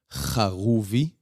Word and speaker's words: Haruvi: In Hebrew, it's pronounced Haruvi. The H and the R is different in Hebrew.